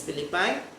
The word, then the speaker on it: Philippi: The pronunciation is Philippi.